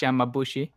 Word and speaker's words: Yamabushi: My Japan pronunciation is exactly the greatest either, but I think it's Yamabushi.